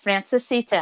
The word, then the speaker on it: Francesita: Yes, Francesita.